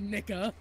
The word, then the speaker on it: Nica: full word Veronica, and her name is N-I-C-A, and she looked me dead in the eyes and said, Nika.